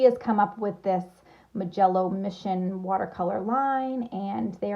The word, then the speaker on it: Mijello: their history it's pronounced mijello i always want to say my yellow because that just rolls off the tongue better however that's would be